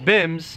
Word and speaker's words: BYMBS: with today's episode of bymbs pronounced bims blow your mind bible